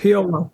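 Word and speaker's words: P.O.L.: Did you pronounce it POL or was it Paul or Parade of Losers? POL, P period, O period, O. It was like PIL, but POL.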